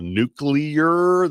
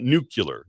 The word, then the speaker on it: nuclear: The nuclear that's how it's pronounced. Not nuclear. Not nuclear.